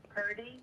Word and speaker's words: Purdy: my name's Perty. Perty? Yep, that's right. Spell it. So PRDY, like Brock Purdy for the 49ers.